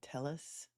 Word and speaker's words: Telles: case you're confused uh this witness is pronouncing Tellus the Spanish way which would be TZ with the Double L as a y um but everyone else refers to him name as Telly so that's how I pronounce it but so don't